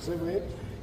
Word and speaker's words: Sèvres: Vamos a hablar también de Sèvres, Sèvres, en francés se pronuncia Sèvres.